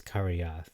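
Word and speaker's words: Kirjath: Baal I think that's karyath because the J is actually pronounced like an i and this is kiriath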